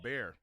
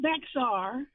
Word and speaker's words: Bexar: I was raised in San Antonio, Texas, and the county is Bexar. Oh, Bear. And it's not Bexar.